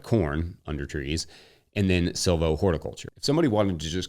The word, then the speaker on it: silvohorticulture: that word out loud silvo horiculture silvo horiculture compare it to Silo pasture which rolls off the tongue pretty nicely for silvo horiculture if you don't pronounce the h it gets a little easier so like silvo horiculture